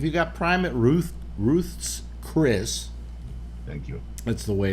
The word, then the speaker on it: Ruth's Chris: You would think if you got prime at Ruth Ruth's Chris. Thank you. That's the way it's pronounced. Yes. Ruth's Chris State. Named after Ruth.